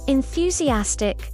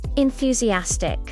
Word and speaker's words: enthusiastic: Then you're enthusiastic. Enthusiastic. Let's break it down. N-THU-C-as-tick. Let's take a picture.